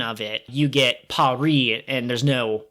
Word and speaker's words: Paris: Oh, it's so fascinating because, like, the French do not pronounce the S in Paris. They say Paris. But we as Americans and English speakers usually say Paris.